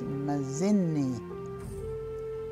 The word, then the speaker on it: mazini: And that word's a little bit different because it starts with a ma sound, and then the middle syllable, z, zinni, zin, z, starts with a z, zin, and then e, mazinni, mazinni, meaning milk.